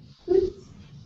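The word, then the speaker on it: xóots: O and how do you say brown bear Hoots yeah Hoots and then get is Coots uh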